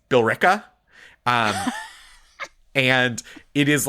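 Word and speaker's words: Billerica: And there's one the one that trips up everyone is it's B I L L E R I C A, which seems like it would be Bolerica for sure, but it is Berka.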